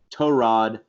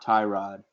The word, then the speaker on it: Tyrod: fire on Taylor so for the records it's tore odd not tie-rod Oh Rafi learn not